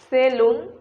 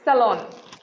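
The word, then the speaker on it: salon: সেলুন, এই উচ্চারণটি ভুল। এই সঠিক উচ্চারণ হচ্ছে স্যালন।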